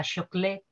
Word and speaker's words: chocolate: también les he puesto es interesante que la pronunciación inglesa choclet es la que haya